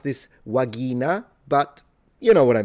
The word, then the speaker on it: vagina: The V is a W and the G is a G. So pronunciation is a little different. You would pronounce this vagina, but you know what I mean.